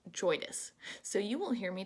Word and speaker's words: JOIDES: And I've actually learned since Earth Day that word, that acronym, I guess, is pronounced JOIDES. So you will hear me today calling this ship the JOIDES Resolution.